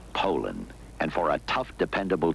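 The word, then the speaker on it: Poulan: And for over 30 years, they've been mispronouncing our name. Puland po a p. So, we'd like to remind you that our name is Poland.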